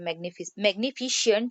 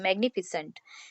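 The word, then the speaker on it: magnificent: ठीक है, देखिए मैग्निफिसेंट, मैग्निफिसेंट के स्पेलिंग रॉन्ग है, मैग्निफिशियंट नहीं है वो। ठीक है, प्रोनाउंसिएशन शियंट के नहीं निकलेगा, मैग्निफिसेंट।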